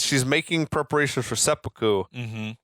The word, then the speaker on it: seppuku: And Kenner says she's making preparations for seppuku. Mm-hmm. Although I feel like they pronounced it really It was weirdly. a weird. It sounded more like he was saying like almost like serpico.